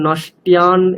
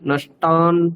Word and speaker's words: नष्टान्: ওখানে তিয়ান তারপর নষ্টিয়ান এরকম জফলা উচ্চারণ হচ্ছে আপনার, সেটা করা চলবে না। হ্যাঁ, শুদ্ধ আকার তান নষ্টান, ঠিক আছে?